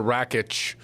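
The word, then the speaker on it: Rakić: Well, it's Alexander Rakic. There's no H, but okay, that's the silent letter. It's an invisible letter.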